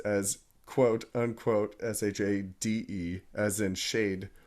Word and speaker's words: SHAED: out, Shade.